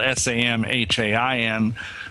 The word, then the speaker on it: Samhain: Yeah, in the Celtic British Isles, yeah, Samhain. It's spelled S-A-M-H-A-I-N, but we say it as Samhain.